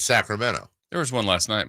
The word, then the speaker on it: Sacramento: Toronto in nor californ like we say Sacramento yeah because there is no tea in Sacramento that is true it's Sacramento there was one last